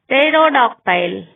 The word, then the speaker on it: pterodactyl: P is not pronounced at the beginning of many words using the combinations PS, PT and PN. Psychology, pterodactyl, pneumonia.